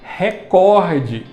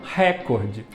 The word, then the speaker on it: recorde: e portanto não é proparoxítona é paroxítona terminada em ao portanto a sílaba tônica é a segunda pela última então eu tenho que dizer recorde e não recorde essas foram as cinco